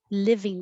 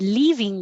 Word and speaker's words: living: leave live living room your tongue should be a little lower if you said leaving room that's possible like i'm leaving room for dessert i didn't eat too big of a dinner i'm leaving room for dessert however the room in the house is a living room yesteryear this is a